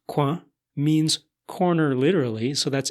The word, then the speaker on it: coin: Well, in French, the word C-O-I-N, pronounced quoin, means corner literally, so that's interesting that coin with a Q-U in English is referring to that same thing in a way.